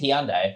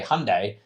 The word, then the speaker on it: Hyundai: If you go to Korea and you ask someone in Korea, which I've been to Korea many times now with Hyundai, if you ask them, "How do you say Hyundai?" They don't say Hyundai. They say Hyundai.